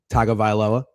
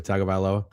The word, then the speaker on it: Tagovailoa: No, try it though. Let's try. Tagovailoa. Yeah, I think you actually nailed it. Tua Tagovailoa. Yeah, Tagovailoa.